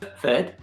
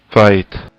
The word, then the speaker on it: fête: Fight. Fight. Sometimes Canada is like different. You notice the difference between French and Canada? Fight. Fight. Fête. So in France, fête, and in Canada, fight.